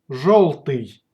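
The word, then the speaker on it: жёлтый: If the letter yo follows zh or sh, then it's pronounced like o.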